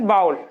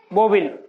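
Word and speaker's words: vowel: बाउल, बाउल is right pronunciation is बाउल, नॉट बोबिल, बोबिल नहीं बोलेंगे, इसे बोलेंगे बाउल।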